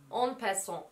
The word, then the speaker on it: En Passant: Ve sıradaki parfümümüz de bu şekilde okunuyor. En passant diye okunuyor.